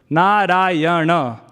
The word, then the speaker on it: Narayana: It is said that Gajendra called out Narayana, 4 syllables, Narayana.